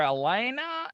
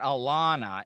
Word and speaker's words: Alaina: is it alana or elena like i because i don't i never want to butcher people's names sure so um my first name is pronounced elena elena okay so it's not alana it's elena yeah hard eye on